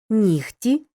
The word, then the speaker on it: нігті: важкий казка рибка запам'ятай у словах нігті кігті легко вогко дігтяр і похідних від них перед глухим приголосним пишемо г але вимовляємо х поглянь на слово легкий